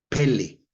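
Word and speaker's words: פלא: Si buscas maravillas en el diccionario Strong, es la palabra H6382 que se lee Pele, así como Pelé el futbolista, pero no es Pele con acento en la primera E, ujú, que quiere decir milagro, prodigio, sorprendente.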